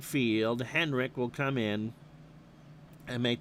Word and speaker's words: Henrich: Henrik, okay. That's how I always pronounced it, but it's Henrich if spelled.